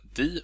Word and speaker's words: de: Adam heter jag, och den här filmen kommer handla om orden di och dom, eller de och dem om ni föredrar det uttalet.